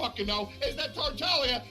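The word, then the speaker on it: Tartaglia: ] know is that tartallia is pronounced tartalia and when the people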